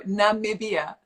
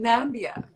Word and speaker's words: Namibia: we're still funny that people can't pronounce namibia how is that how is that pronounced so namibia oh it was funny at the miss universe pageant because dick clark who was the host he kept saying nambia miss zambia which is